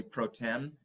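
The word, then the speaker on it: pro tem: act as the mayor Pro uh it's usually proem is how it's pronounced um the the uh the first thing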